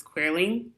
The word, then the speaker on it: Queerly: of my series is queerly it's pronounced like Earthlings by queer and clearly has two definitions it's